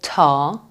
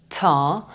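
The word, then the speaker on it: طا: this one is called tar tar and is pronounced like tea but this one is Arabic again but they pronounce it something between T and D so they would go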